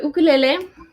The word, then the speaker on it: ukulele: just love am the ukulele my little baby here um that pronunciation is based off of hawaiian pronunciation so they pronounce their use rather than you it's like ooh so it's ukulele same with i think